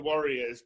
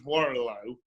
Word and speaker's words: Warrillow: And I did have several conversations with a lady before my stroke who was a life coach who couldn't pronounce Warrillow, and she kept pronouncing it as warrior.